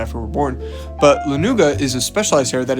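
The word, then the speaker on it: lanugo: Is they have fur called lenuga, which is I think that's how you pronounce it, lenuga.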